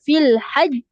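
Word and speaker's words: الحج: Ha tu ada tanda panjang ke atau pendek sahaja? Pendek. Pendek. Pendek je. Okey. Jadi ejaan dia dia akan terus ha mati pada J tu ataupun huruf jim tulah. Jadi terus ha tahan dulu lepas tu baru lantun.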